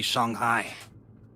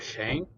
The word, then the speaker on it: Shanghai: of call will be shanghai is that how it's pronounced yes okay instead of shane okay i got my